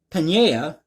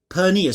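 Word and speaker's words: Peña: So Houston Fire Chief Samuel Pena, pardon me. I see it, but for some reason I can't pronounce it. Pena. Say it with me, everybody, Pena.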